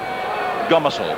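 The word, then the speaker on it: Gomersall: will place the ball and the referee Barry gomisel is the correct pronunciation just repeating if you just joined us and George won their match against Queensland country by 26 points to 10.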